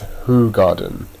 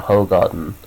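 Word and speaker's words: Hoegaarden: Apparently, it's pronounced as Hoo Garden, not Ho Garden.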